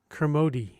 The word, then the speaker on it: Kermode: It's Kermode. Oh, that's how it's For the American pronounced.